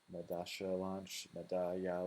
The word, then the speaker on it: Medalla: Yeah, the double L is people say ja, sha, ya, like it's all over the place. Um, okay, cool. Welcome everyone. Um, Congratulations on the Medalla launch.